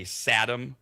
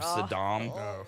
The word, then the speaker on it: Saddam: It's like during the very, this is for old people, the very first Persian Gulf War, the older Bush would always say Satam instead of Saddam.